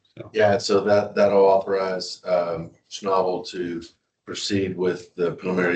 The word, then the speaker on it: Schnabel: Schnabel? Schnabel.